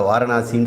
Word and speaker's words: வாரணாசி: அது சில பேர் உச்சரிப்பு கஷ்டங்கனால பெனாரஸ்ன்னு சொல்றாங்க. வா வந்து பா ஆயிடும்.